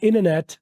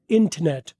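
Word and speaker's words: internet: य पर इन नेट इंटरनेट को क्या अमेरिकन वाले बोलते हैं अमेरिकन वाले बोलते हैं इनेट ब्रिटिश वाले बोलते हैं इंटरनेट अमेरिकन वाले बोलते हैं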